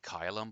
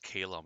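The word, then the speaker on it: Caelum: They say Kylum, but that's pronounced Calum, isn't it?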